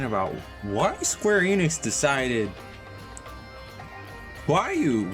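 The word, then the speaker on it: Roaille: Get to just sit here and complain about why Square Enix decided Huayu was how you're going to spell or pronounce the name that is spelled R-O-A-I-L-L-E.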